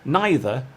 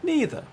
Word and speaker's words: neither: both are acceptable so either and either are both acceptable as are neither and neither another example is the